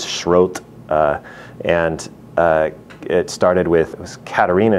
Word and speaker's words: Schroth: exercises we can say the word shrothe or schroth is probably the more common English pronunciation but it comes from the German which I think is schroed and it started with